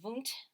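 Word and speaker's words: Wundt: okay um wilhelm voont you say his name vunt almost v-o-o-n-t even though it's spelled obviously differently as you see on the screen um from germany set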